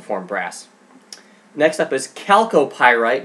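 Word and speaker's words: chalcopyrite: greener so this is calco pyrite it's spelled with a ch it's not chalky pyrite it's calculated next up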